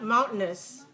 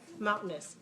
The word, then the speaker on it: mountainous: is an an adjective mountainous three syllables which syllable is dressed the first one what happens the second one we don't say mountain okay look at how relaxed i am relax is simple second syllable right mouth okay make the mound very clear mound and then make the second syllable weak and the second syllable third syllable mountain okay look at